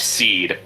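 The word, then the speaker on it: cede: And and the pronunciation is in fact seed.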